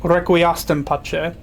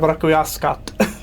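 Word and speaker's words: Requiescat: They say request pache instead of rauascat.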